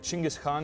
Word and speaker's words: Genghis: And somehow the confusion led to the g e being pronounced as a g instead of a j. All right, so it sounds like Chinggis Khan is the original pronunciation, so let's all switch to that, right?